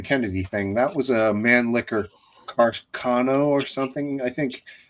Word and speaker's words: Mannlicher: That was a Mannlicher Carcano or something, I think. Yep. I was always uncomfortable saying that Mannlicher.